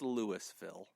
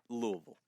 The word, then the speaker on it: Louisville: about Louisville like that it's it's Lewisville but Louisville you're supposed to like pretend like you don't speak English when you say that name well you got to